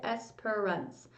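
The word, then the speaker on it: Espérance: I do have a pronunciation guide, and that's how it says to say it, Esperance. And the meaning is hope in French, it says.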